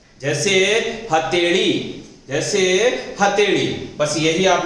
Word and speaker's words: हथेड़ी: जैसे मान लो हथेड़ी कहते हैं ना, हथेड़ी, तो ध्यान रखना है वो जो ये उच्चारण होता है हथेड़ी, हथेली नहीं, हथेड़ी, बस वो ही है, उसी की बात कर रहा हूं।